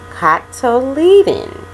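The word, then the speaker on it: cotyledon: what is called a cocktail leading cocktail leading that's how you pronounce that word cop tough toe leading then it becomes a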